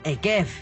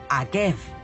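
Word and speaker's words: עקב: Akeiv, la misma palabra, pero se pronuncia distinto. Es decir, Deuteronomio 7:12, que abre la parashá Ekev, que significa sí, se escribe igual que calcañar, talón, que se pronuncia Akev.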